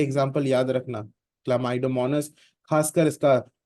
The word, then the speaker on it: Chlamydomonas: था, अमीबा का पढ़ा था, उसी तरह से क्लामाइडोमोनास is also a single celled organism. ये एग्जाम्पल याद रखना, क्लामाइडोमोनास, खासकर इसका स्पेलिंग याद रखना. Okay, you सी CHLAMYDOMONAS, क्लामाइडोमोनास single cell organism होता है.